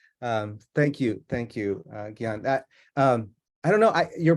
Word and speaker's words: Gion: Thank you so much, Gion. And I apologize for soft Gene your name. I always want to soft G your name. Thank you, Gion.